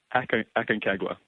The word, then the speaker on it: Aconcagua: You pronounce it for me. Aconcagua. Aconcagua.